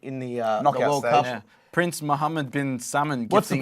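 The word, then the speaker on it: Salman: in the in the uh Prince Muhammad bin summoned what's the pronunciation so it was Prince Mohammed bin salmon gifted the team Rolls-Royce right that that's how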